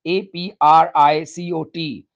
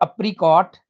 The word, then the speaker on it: apricot: sixth one is kurmani spelt in english as a-p-r-i-c-o-t not apricot it's apricot apricot apricot dry apricots are